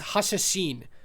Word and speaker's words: hashashin: yeah yeah uh so assassin is a a mispronunciation the term is hashashin hashish yeah they were